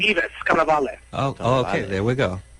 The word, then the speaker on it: Yvis Cannavale: Am I pronouncing that correctly? Yvis Cannavale.